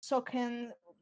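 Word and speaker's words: Sochen: from Final Fantasy XII's Soken. It's actually named like that. It's CH, but you pronounce the CH like K.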